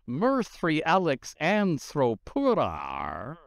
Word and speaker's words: Murthiialyxantrthroprara: whose name is Mirthri Alex Anthropura. What? One more time? Yeah. Okay. I'm not going to even make you spell that one.